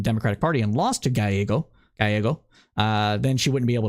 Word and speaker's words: Gallego: Yeah, so Ruben Gallego. Ruben Gallego. Pretty sure it's supposed to be pronounced as a Y. Yeah, Gallego.